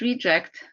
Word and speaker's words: reject: So it's either a verb, to reject something or someone, a transitive verb, or if you pronounce it reject, it's a noun.